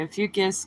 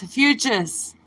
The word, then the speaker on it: Ophiuchus: say a fucus sometimes you'll hear me say a fucus because I'm used to saying it that way but it's a futes a futes let's pronounce it and do it